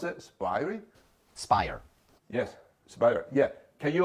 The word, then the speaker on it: SPIRE: it's called the SP i e how to pronounce it sping Spire yes Spire yeah can you talk a little